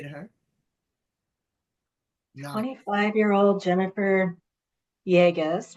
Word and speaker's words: Yagos: 25year-old Jennifer Jagus rhymes with Vegas.